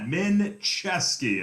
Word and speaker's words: Minczeski: That is how you pronounce that. Minczeski. It's said wrong every time. It's not Seth Rogen, it is Minczeski.